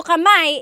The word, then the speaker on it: kamay: So kamay is hand one hand.